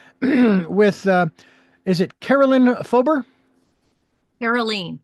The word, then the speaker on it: Karoleen: Karoleen, yes. Karoleen, Fober. A long E there because it's double E's.